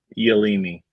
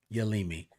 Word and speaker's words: Yealimi: Did you catch how to pronounce No's first name? Yealimi. Yealimi.